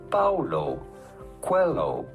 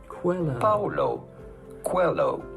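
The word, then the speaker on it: Paulo Coelho: how to pronounce that how do you go about pronouncing his name Paulo Quello Paulo Quello pretty straightforward once you know Paulo hello Quello Google is so smart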